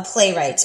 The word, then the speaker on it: playwright: person who writes a play play right now the word right is not spelled like you might think but that's how it is spelled a playwright and that is the